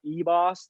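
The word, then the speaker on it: Ribas: Like one of my favorite fighters is definitely Amanda Ebos. The R is silent.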